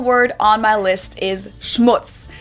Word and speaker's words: Schmutz: on my list is Schmutz this one is pronounced and used the same way in both languages it means dirt and